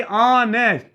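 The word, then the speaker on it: honest: होगा ऑनेस्ट, अब देखिए ऑनेस्ट, ठीक है, अब यहाँ एच जरूर है लेकिन एच साइलेंट, ऑनेस्ट पड़ रहा है, ओ की साउंड आ रही, ठीक है।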